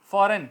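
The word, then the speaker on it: foreign: फॉरेन, फॉरेन country में अब जाते हैं, फॉरेन, फॉरेन फॉरजन नहीं कर जाएगा, फॉरेन।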